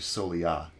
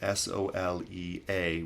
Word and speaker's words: Soleá: of the first lesson so let's get into solya which is spelled s-o-l-e-a with a accent over the a and basically